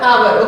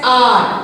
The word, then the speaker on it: hour: why because ah our we won't call it as hard hour okay we call it as r awesome see r okay ah sound that's why we are